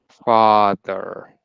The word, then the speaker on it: father: You could try and think of it as being part of the first syllable, like father. Father. And that softens Yeah. the th because you're kind of landing on it instead of starting from it.